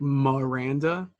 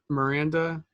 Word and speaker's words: Miranda: my first name but my last name sometimes people say like Miranda it's Miranda if you're saying it in English my it's a my